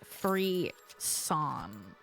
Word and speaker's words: frisson: Apparently, Google says you're supposed to pronounce this frisson.